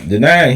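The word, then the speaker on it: Denaun: Okay, so there we go again that denying um flip him and denying flipping over couch uh sofas finding change so they can eat. Um denying he I see he got his fingerprints all over this album.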